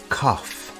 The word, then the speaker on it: cough: do you have a cough the word cough has an unusual pronunciation instead of a g sound we have an F sound here do you have a